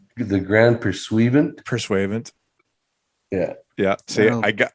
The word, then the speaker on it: Pursuivant: Isn't that pronounced the Grand Pursuivant? Pursuivant.